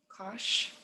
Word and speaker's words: cosh: gonna say is like kosh similar to posh you make sure uh